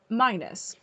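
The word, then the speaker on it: Minis: Minus. But it's spelled M-I-N-I-S. From what I saw, but then in a video, I heard them say it was pronounced minus.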